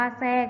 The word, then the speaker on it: แทรก: นะ คะ ก็ คือ การ ออก เสียง ทอ นะ คะ เป็น สิน ซอ ก็ อย่าง เช่น คำ ว่า ใส่ นะ คะ คำ ว่า ทราบ อ่าน ว่า ทราบ นะ คะ ทราย อ่าน ว่า ทราย แทรก อ่าน ว่า แทรก นะ คะ เด็ก ๆ